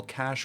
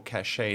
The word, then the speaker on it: cache: an ssd as an actual cache or cachet depending on how you want to pronounce it so now that we've